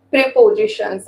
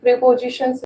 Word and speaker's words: preposition: I think prepositions are the main mistakes of me. Preposition. Yeah, Z, z, z. prepositions. Pronunciation is also very important. Yes, ma'am. You are using j, whereas it is z.